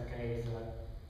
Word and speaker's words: Caesar: Sapete che Cesare è solo la pronuncia ecclesiastica umanistica, cioè non quella originale. La pronuncia originale, ricostruita dai teologi, era qualcosa che assomigliasse a Caesar.